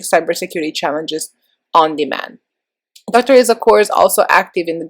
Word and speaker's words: Izuakor: Izuakor.